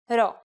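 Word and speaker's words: ρω: Our first letter this time is the consonant ro. Its sound is r and is exactly like the English R.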